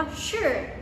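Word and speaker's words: 是: เรา ซื้อ นะ คะ คำ นี้ ออก เสียง ว่า ชื่อ เชื่อ อ่ะ เชื่อ ตาม นี้ นะ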